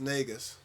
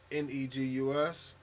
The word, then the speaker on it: Negus: Technically, it's pronounced Negus, but on all platforms, Negus, or you can find my music at allbasscreations.bandcamp, or on all streaming platforms.